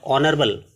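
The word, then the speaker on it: honorable: यहां एच जो है साइलेंट है और ऑनरेबल ओ तो ओ का साउंड आ रहा है वोवेल इसलिए एन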